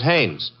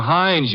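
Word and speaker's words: Haines: His name is Hannes.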